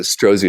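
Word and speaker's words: Strozzi: senior teacher at uh strasi or stratzi Institute I'm not sure how to pronounce that it's called they pronounce it strozy Institute it's Rosie okay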